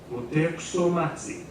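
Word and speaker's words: Motecuhzomatzin: But out of respect, you might want to add the polite suffix, Moteksomatsi. Did you hear that?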